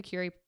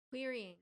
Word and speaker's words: querying: an author writing a manuscript going through the cury. I can never say that word right like when you write to agents querying.